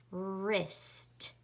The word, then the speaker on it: wrist: So is going to be spelled W-R, and W is a ghost letter. Draw a ghost.